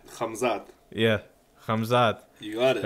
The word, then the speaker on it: Khamzat: that his golden boy or his guy in Khazma, you said it right. You said Khamzat? It right. Khamzat.